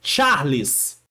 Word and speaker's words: Charles: É Charles. Pronúncia de C-H.